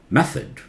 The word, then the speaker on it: method: Method. Method. English TH may be different from your language. Suppose you're a Hindi speaker. Th in Hindi is pronounced differently. It's entirely different sound.